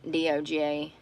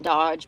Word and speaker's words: DOGE: Elon and Vivek run DOGE, and I think it's pronounced not Dodge, but Doge or something.